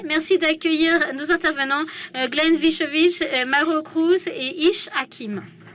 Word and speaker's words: Vicevic: doutais bien bon est-ce que vous voulez le prononcer bien correctement vitevic ok vous voyez bon maintenant on le sait